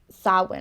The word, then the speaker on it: Samhain: It's pronounced Samhain, I think. Samhain? Yeah. It's spelled Samhain, but yeah, I know that's wrong. It is. It's I spelled know Samhain. that's wrong. I think it's Samhain. Okay, Samhain.